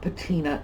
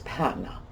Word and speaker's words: patina: It is not patina. You will hear it pronounced patina. It is patina.